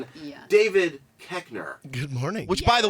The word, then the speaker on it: Koechner: David Koechner.